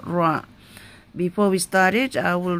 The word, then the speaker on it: ر: so we pronounce it ra with fatha, with a line on top, or dhamma, which is looks like number 9 on top on it, should be pronounced with full mouth.